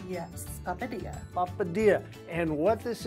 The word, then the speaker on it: Papadia: brand new and let's see if I can pronounce this correctly it's a papadia yes papadia La Padilla and what this is is you've